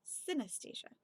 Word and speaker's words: synesthesia: confusion of the senses if you want to know how to pronounce CIN CIN at SIA it sounds like anesthesia anesthesia but with the sin at the beginning so synesthesia helpful thank you thank